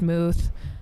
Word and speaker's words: Möth: Um, but Moth is actually spelled with the German O. Um, so it's pronounced Muth.